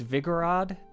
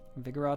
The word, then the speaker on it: Vigorod: For anyone who does want to know, the two cities mentioned here, it's Vigorod and Arthart. Vigorod and Arthart. That's a pronunciation for them.